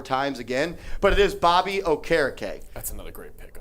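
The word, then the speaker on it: Bobby Okereke: that's fair that's fair by the way it's pronounced Bobby o'cara Kay yup I heard him say it on an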